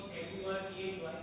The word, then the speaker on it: Murty: That my surname will not be M-U-R-T-H-Y. Yeah. My surname will be M-U-R-T-Y because I believe in the real pronunciation of the surname. હા. So Murthy is pronounced as M-U-R-T-Y and I will not.